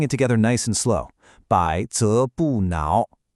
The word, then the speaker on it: 撓: And finally the last character is now pronounced now.